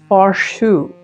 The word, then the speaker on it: Faurschou: to the gallery and it was called faru so I don't know if I'm saying it correctly because because they are from Copenhagen and it's spelled f a u r s h o u